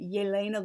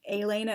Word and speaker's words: Yelena: would see, for example, the name Yevgenia would look like it was pronounced Evgenia, or the name Yelena looked like it would be pronounced Elena, and just all sorts of other things like that.